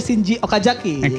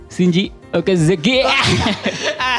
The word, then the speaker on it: Shinji Okazaki: Dan ada Shinji Okazaki. Yang ini sebentar. Anda kan wibu ya? Iya. Okazaki. Bukan seperti itu Kak bacanya. Shinji Okazaki.